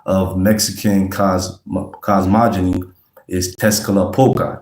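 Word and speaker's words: Tezcatlipoca: That's not the correct way to say it. I'm just saying it for, you know, I mean, for our purpose, right? Um, Tesca Poga, that's the English way to pronounce it.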